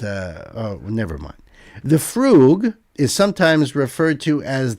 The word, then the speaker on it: fugue: The fugue, pronounced fugue with a double O sound.